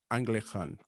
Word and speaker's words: Ahngleighkan: And for the viewers and listeners, it's not Anglican. It is spelled AHNGLEIGHKAN, Anglican and Associates.